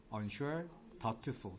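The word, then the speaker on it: doubtful: Unful B가 묵음이라서라고 읽어요.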